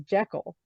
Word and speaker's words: Jekyll: and if you're going to go on Google, the pronunciation of it is Jekyll.